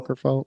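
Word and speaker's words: Åkerfeldt: Ackerfeld, yeah.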